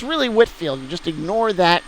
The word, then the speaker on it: Whitefield: for whitfield it's pronounced whitfield even though there's an e stuck between the t and the f so it looks like it's white field but it's really whitfield you just ignore that